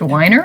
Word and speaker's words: Weiner: so my last name is by the way pronounced weiner i i looked it up but thank you